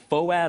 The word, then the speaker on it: FOAD: Yeah, and it's spelled F-O-A-D, so everyone, if they saw it written, would say, you know, Foad on the March. And we're like, it's not Foad, it's Foad.